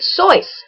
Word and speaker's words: Seuss: You're wrong as the deuce and you shouldn't rejoice if you're calling him Seuss. He pronounces it so. Aha. He pronounces it so. Everybody tell your children Dr. Soy.